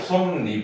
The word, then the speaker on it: 솜이불: 자, 그래서 예를 들면은 솜이불 하면은 발음상으로 솜니불이 되지. 혼니불 해도 혼니불이 되지.